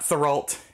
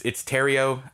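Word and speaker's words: Therriault: It's not Thoralt, it's Terrio. I listened to the audiobook, I even looked up the Google pronunciation. It's English, man. Maybe it's not English, maybe it's French. I don't know. But what I'm getting at is it does not read like it's written.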